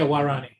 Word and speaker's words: Waorani: Now, you spent a lot of time with that see if I'm pronouncing it, Warani? Yeah, Warani, yeah.